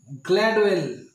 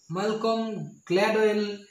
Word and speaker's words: Gladwell: Malcolm Gladwell. Malcolm C-O-L-M. Malcolm. L is the silent letter here.